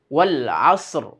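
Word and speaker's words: والعصر: রয়ের যে মাখরাজটা আছে সেটাকে যদি আমরা টেনে আনি তাহলে কিন্তু শব্দটা ঠিক হবে। তা না হলে কিন্তু রয়ের উচ্চারণ হবে না। তো রয়ের উচ্চারণটা কি, মাখরাজটা কি ছিল? জিহ্বার আগার উল্টা পিঠ, যে উপরে তালুর সঙ্গে লাগবে। তো আমরা কি বলবো? ওয়াল আসর, ওয়াল আসর। এই যে রটাকে গিয়ে আমরা তালুর সঙ্গে লাগালাম উল্টে।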